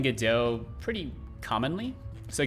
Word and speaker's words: Godot: like i've been saying godot pretty commonly so godot is french so you you should not say godots it's a like a